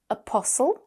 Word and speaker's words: apostle: Then we have apostle with a Yes, short apostle.